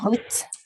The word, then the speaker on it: août: Oui, c'est un peu bizarre, mais on va prononcer août.